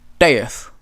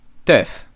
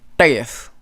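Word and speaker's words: tet: So you take your tongue, you put it at the top of where your teeth are, and then you say a T. Teef. A regular T will be tef. This is different. Teef. Teef.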